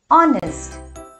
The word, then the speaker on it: honest: An is placed before honest. But why? H is not a vowel. Can you guess? It is because it begins with the vowel sound O and not H. Here H is silent.